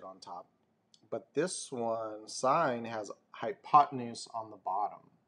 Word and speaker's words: sine: first one is again it's pronounced sine like a stop sign so sine ratio you'll